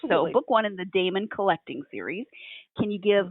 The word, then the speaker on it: daemon: in the uh okay is it Damon or how do you pronounce d a e m o n Damon okay I thought so but all right that's